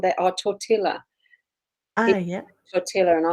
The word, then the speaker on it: tortilla: Tortilla. And I said, it's just tortilla. You don't pronounce the L's.